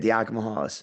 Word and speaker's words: Diakomihalis: Yianni Diakomihalis. How do you pronounce the last name? Diakomihalis? That's it. Diakomihalis. I said it right.